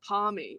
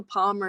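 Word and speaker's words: parmy: Is it a palmy or is it something else? Like, as in the name? How would you pronounce it? Like, if you said, what do you call it? What do you call it? Oh, palmy. Anyone who calls it a palmer is like probably from Melbourne.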